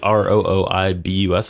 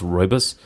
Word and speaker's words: rooibos: It's like Rooibus, I think, but it's pronounced rooibos.